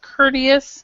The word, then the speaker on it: courteous: cous friendly polite perfect courteous and this one actually with the T here really sounds like a d courteous C courteous yeah all